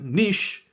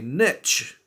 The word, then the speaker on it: niche: how we see it niche in America I know you say it very differently I don't know how this pronunciation got kind of lost in the pond but you guys would say Niche Niche versus niche very very different the next word is